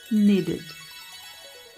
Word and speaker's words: needed: Então, estes serão os únicos casos em que você vai pronunciar o final da palavra com som de ID, quando a palavra originalmente já terminar com T ou com D.